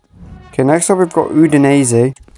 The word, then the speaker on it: Udinese: Okay, next up we've got Udinese. I believe that is the correct pronunciation of this football team.